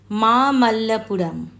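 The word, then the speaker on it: মামল্লপুরম: মহাবালিপুরাম বা স্থানীয় উচ্চারণে মামা মাল্লাপুরাম দক্ষিণ ভারতের তামিলনাড়ু রাজ্যে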